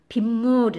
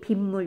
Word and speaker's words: 빗물: 니은 소리 던 나거든요 b 무리 라고 발음 안 합니다 빗물이 라고 의미 은 소리가 덧붙여서 발음이 되죠 그래서 뒤에 있는 말이니